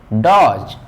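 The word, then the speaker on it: dodge: Pronunciation नहीं होता है, तो इसको हम लोग पढ़ेंगे प्लेस, डी को साइलेंट, प्लेस। इसको पढ़ेंगे ग्रस, इसको पढ़ेंगे हेज, इसको पढ़ेंगे डॉज।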